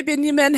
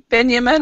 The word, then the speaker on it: Benjamin: Hi, Benjamin. How are you? Or is your name Benjamin? Hi. Do you pronounce your Yes, my name name is Benjamin or Benjamin? Benjamin. Okay. Yeah, some countries don't pronounce the J and some countries do.